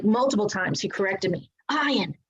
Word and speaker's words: Ian: Ian, pronounced Ian, played Steve Sanders on